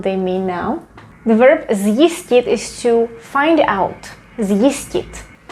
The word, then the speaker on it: zjistit: So here we pronounce it as z, zjistit.